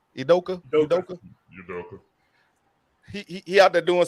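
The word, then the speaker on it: Udoka: Bean town that's how you say his name idoka he he out there doing some some he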